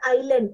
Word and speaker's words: island: where did he go you have to say it as Island okay that yes is silent baby we learned all